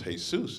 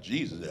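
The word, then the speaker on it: Jesús: I'm let you understand that's a Spanish name it's hey Seuss it's pronounced how it's pronounced it's not Jesus Helen speak Spanish really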